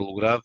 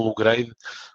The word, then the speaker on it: Lugrade: parte da minha mãe daí a palavra logrado e não e não logrei como muitas vezes por vezes as pessoas pronunciam o que não está correto porque somos portugueses Somos